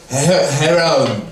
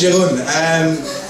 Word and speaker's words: Jeroen: So, my name is Jeroen, or as people from Portugal like to pronounce it, No, my name is Jeroen. And then I go into this conversation like, Jeroen, heroin. Yes, my name is Heroin. Come on, no, it's Jeroen.